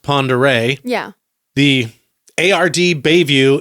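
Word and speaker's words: Pend Oreille: of Lake looks like it's spelled pend Orel pronounced pond array yeah the Ard Bay View in the Navy's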